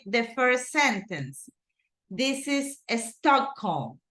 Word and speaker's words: Stockholm: So Stockholm is a city in Sweden, Estocolmo, right? But the right way to say it in English is Stockholm.